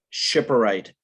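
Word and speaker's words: Schipporeit: for our court quarter yes uh shipwright s s-c-h-i-p-p-o-r-e-i-t okay so i don't know if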